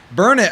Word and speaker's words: Burnet: Burn it. I'm saying it wrong. They say burn it. Yeah, they say IT? Burnett, Burnett?